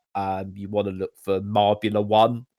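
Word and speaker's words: Marbula One: You want to look for Marbula 1, it's pronounced.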